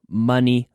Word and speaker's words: money: I talked about funny money month. Dinero gracioso, funny money. Money. That sound, O, even though it's an O, not a U, we pronounce it the same as funny, funny, money, month, okay?